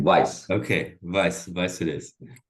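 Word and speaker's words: Weiss: uh is uh so I've attributed this to whis there's a it's usually called whis's conjecture but it's kind of a folklore actually it's Vice me it's benj Vice you pronounce his last name Vice okay vice vice it is um sorry about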